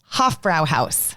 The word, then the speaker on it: Hofbräuhaus: Uh, let me see if I can pronounce that correctly. It's Hofbräuhaus. Hofbräuhaus.